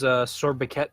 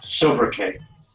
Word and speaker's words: sobriquet: His Sorbiquet would be the one-man army. His sword what? Sorbiquet, like... Sobriquet.